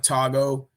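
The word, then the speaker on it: Togo: they got one well i know it's not pronounced to go it's called like tago but they got one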